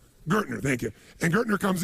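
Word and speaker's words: Gerstner: And they brought in I don't know how to pronounce his name. It was Gestetner, the gentleman who came in, who was like the major turnaround guy. What's his name? Gertner, thank you.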